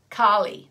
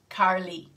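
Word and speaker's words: Kali: so um you know in english we would say carly the goddess carly wouldn't we if you've got an australian accent goddess carly um but in sanskrit it's the goddess karli so we try and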